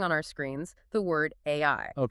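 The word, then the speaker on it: 愛: He even points out that the Japanese kanji for the word love which is pronounced ai is traditionally drawn using exactly 13 strokes.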